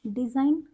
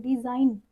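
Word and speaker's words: design: डिज़ाइन, यहाँ पे हमारा जी साइलेंट है, क्योंकि यहाँ पे आई के बाद हम एन साउंड करते हैं, एन प्रोनाउंस करते हैं। डिज़ाइन, रिज़ाइन, असाइन एंड साइन।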